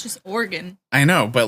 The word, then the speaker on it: Oregon: There's so many conversations about the proper pronunciation of Oregon that I like worry that I'm saying it wrong. It's just Oregon.